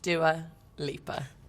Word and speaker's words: Dua Lipa: How is Dua Lipa pronounced? Dua Lipa.